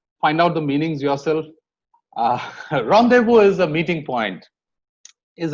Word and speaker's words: rendezvous: There are some French words that have the Z silent. It's laissez-faire and Rendezvous. Find out the meanings yourself. Rendezvous is a meeting point.